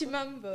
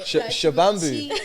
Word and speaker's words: Chimambo: Chi, like chi. Chi. Chi, mum. Mam. Chimambo. Yeah.